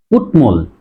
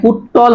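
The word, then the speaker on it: কুট্মল: সে কারণে উচ্চারণ জন্ম আরেকটা হচ্ছে দেখো ত টর কুটমল তাহলে এখানে উচ্চারণ হবে কি কুটমল তাহলে কুট মল এটা কুট্টল হবে না উচ্চারণ হবে কুটমল এই কুটমল শব্দের অর্থ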